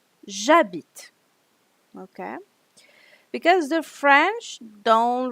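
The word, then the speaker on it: j'habite: you have a vocal foreign you um don't pronounce the e so you don't say a bit you'll say jabit okay because the French don't really like to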